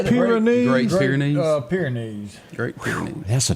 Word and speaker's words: Great Pyrenees: Great Pyrenees.